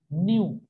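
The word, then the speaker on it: ν: ठीक, this is called, this is called, इसको बोलते हैं एन यू, न्यू। हिंदी में लिख रहा हूं न्यू, इसको बोला जाता है प्रोनाउंसिएशन, न्यू बोलते हैं इसको।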